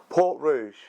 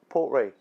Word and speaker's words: Port Ruighe: word there really rugged port rouge no it's not don't lie to me poor re portray that's how you pronounce it now why is it